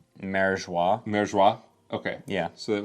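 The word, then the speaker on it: Mariejois: I think it's spelled differently in other translations, but I think it's supposed to be pronounced Marijois.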